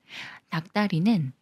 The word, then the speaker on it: 닭다리: 되면서 막대로 읽는다고 했었죠 닭다리는 닭의 다리로 닭이 꾸며 주는 말이고 리을 기억 받침 중에 리얼은 생각 말고 기억과 디귿이 만나는 거라서 디귿을 쌍디귿 소리로 읽어요 닭다리 닭다리 이번에도 마찬가지로 기억 받침이